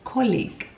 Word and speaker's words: colleague: Words like colleague, that is not pronounced as E and A, but it's pronounced as an E.